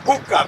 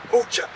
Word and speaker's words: Bucha: During the Battle of Irpin, the first account of Russian atrocity against civilians occurred here at its neighbor, Bucha. Some Americans pronounce that Bucha, but it's actually Bucha.